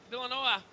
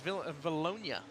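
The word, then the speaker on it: Vilonia: Kevin Atkinson out of Villanova. I say it. You said it like 5 different ways. Valonia. Valonia, see? If you'd have told me to say it like baloney, I'd have said baloney.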